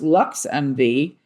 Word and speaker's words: LXMV: LXMV, pronounced LuxMV, is Chicago's first ever womanfounded luxury chauffeur and